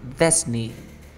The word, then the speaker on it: Disney: Disney. Ajá, Disney. Pero la correcta pronunciación es así, mira. Disney.